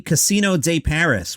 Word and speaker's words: Casino de Paris: in paris inside the casino de paris which is how you pronounce it in french the 2000 seat venue